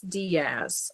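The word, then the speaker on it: Daiz: Even though it's spelled days, it's Diaz, I believe, is how you pronounce it.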